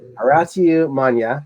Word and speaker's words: Horatiu Manea: Ladies and gentlemen, this is Horatiu Manea. I pronounced it right this time, right?